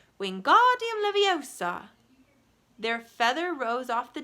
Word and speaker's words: Wingardium Leviosa: "Wingardium Leviosa!" he shouted, waving his long arms like a windmill. "You're saying it wrong," Harry heard Hermione snap. "It's Wingardium Leviosa. Make the ga nice and long."